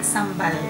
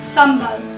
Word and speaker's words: sambal: Okay, this is kind of like the chili paste, but in Malaysia we call it sambal. Sambal. Yes. Is that okay? Sambal. Yeah. Okay. Yes, perfect pronunciation.